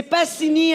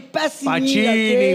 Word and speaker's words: Pacini: J'y ai montré, puis j'ai dit, c'est Passini en passant, c'est Passini, OK? Pacini. Il n'y a pas de H.